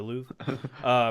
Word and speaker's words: Louvre: How do you pronounce it? I Louvre. don't know. The Louvre.